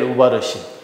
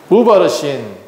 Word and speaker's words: 우바르신: 우바르신 이게 뭐냐 그러면 우자가 접속사 우예요. 그리고 바르신 메대와 바르신이 페르시아예요. 발음이 그래요. 원래 바르신은 뭐냐 그러면 여기 성경에는 뭐라고 되어 있죠? 다시 한번 볼게요. 베레스라고 나와 있어요. 28절에 보니까 베레스라고 되어 있는 것은 이게 아람어예요. 그런데 이걸 히브리어로 바꾸잖아요. 그러면 바르신, 파르신 이렇게 발음이 돼요.